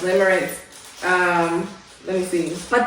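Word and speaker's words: limerence: Limmerance. Limmerance. Yeah, liance. I can't believe that's how it's that it's pronounced. Limrance.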